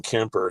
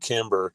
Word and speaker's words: Kemper: up saying my name Kemper he said Kimber and then he said